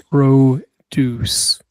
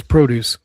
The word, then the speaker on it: produce: Produce. Emphasis on the first syllable. Stress on the first syllable. Here on the second one, it's produce.